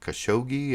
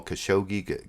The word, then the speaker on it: Khashoggi: Washington Post reporter uh Khashoggi I can't pronounce it that's why I haven't been saying his name Jamal khashoggi Khashoggi people pronounce the g's different ways but here you'll see